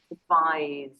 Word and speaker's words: advise: C between the vowels is pronounced like advice, and S between the vowels is pronounced like advise.